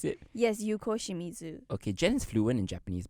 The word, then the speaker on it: Yuko Shimizu: screw up in him is that how you pronounce it yes Yuko Shimizu okay gens fluent in Japanese by the way